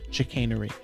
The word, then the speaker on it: chicanery: your comments and uh chicken so chicanery actually that's how you pronounce that word chicanery so this has been